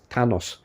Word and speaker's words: Thanos: Thanos, how to pronounce it in English correctly? Thanos.